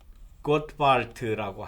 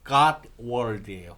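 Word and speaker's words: Gottwald: 이 주장은 아까 그 가나안 정착할 때에 나중에 그 혁명 가설을 이야기한 노만 고트발트라고 하는 뭐 노만 갓월드라고 이야기하기도 합니다만 이게 독일어 이름이기 때문에 이렇게 독일어 발음으로는 고트발트, 예, 영어로 발음하면 갓월드예요. 이름이 그렇습니다.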